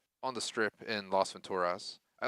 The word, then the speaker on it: Venturas: the tour video on the strip in los venturas i like to call it las vegas but it's venturas as i heard in the game pronounced so been mispronouncing that for two decades